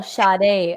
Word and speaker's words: Sade: It's Sade. Oh, Sade. Oh, I apologize. That sounds so much fancier.